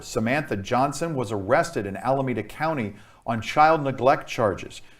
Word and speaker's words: Alameda: alameda i came close alameda that's how it's pronounced alameda okay wow my goodness my goodness that's i